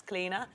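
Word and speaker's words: Clíodhna: It's Cleena. People go, what, your middle name's Cleena? Yes, it's an ancient Celtic name, thank you.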